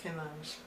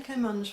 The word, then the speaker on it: kamancheh: I've heard various pronunciations of this. Anyway, I'll call it one I found, which is Comanche.